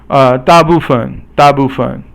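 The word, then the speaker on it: 大部分: 大部分 is all fourth tone except for the 分 is 轻声 or silent tone.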